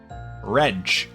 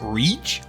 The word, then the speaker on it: Rean: no no no n rege I have been pronouncing that way for nine games and you're telling me it's reach now in the end of act two of the ninth game we are 100 we are 900 hours into this series and now you're telling me how it's pronounced yo we're just going